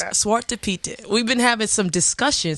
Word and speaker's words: Zwarte Piet: I just learned how to pronounce it. It's Piet Day. It's Piet Day. It's Zwarte Piet.